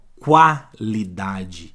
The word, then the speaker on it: qualidade: onde tá a pegadinha quando esse U sai som quando ele é pronunciado daí eu não tenho dígrafo aí não é mais dígrafo por exemplo ó qualidade eu escutei o ó aqui não é